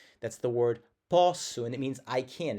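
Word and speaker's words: posso: Now the reason why I think this is the case and pronunciation wise it changes. There's a word that's p o ss o. That's the word pu and it means I can.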